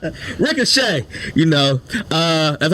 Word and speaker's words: Ricochet: Rick O'Shea, LWO. Yeah, why you say it like that? It's not 2 words. I know. Rick O'Shea. Ricochet.